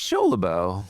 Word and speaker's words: Scholibo: I say show like it should be SHOW.